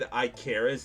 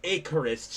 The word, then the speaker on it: Icarus: it's kept in the VOD, but I was pronouncing Iicaris. It's Icorus, chat. I freaking realized later that night after my best friend was making fun of me. I was like, it's pronounced Icorus, isn't it?